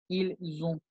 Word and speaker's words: ils ont: Cuando haya una S y una vocal, que hay liaison, se genera la pronunciación de una Z, no de una S. O sea que esto es más marcado. Y se dice ils ont.